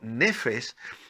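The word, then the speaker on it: נפש: totalidad de mi vida esta importante palabra hebrea que es una palabra que se pronuncia en hebreo como nefesh se ha traducido como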